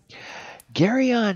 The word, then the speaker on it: Geryon: find out a little bit about gary on gary on has two origin stories i guess actually there's